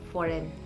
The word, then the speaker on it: foreign: the letter z is silent and it is pronounced as s-i-n sign and also foreign f-o-r-e-i-g-n in this let in this word the